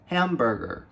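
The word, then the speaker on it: hamburger: ficar boiando em inglês a gente deve pronunciar esse H do início Então a gente vai falar ela Burger real Burger Hambúrger and Burger agora preste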